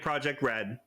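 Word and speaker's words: Project R.E.D.: And we'll be militant about pronouncing it Project Red.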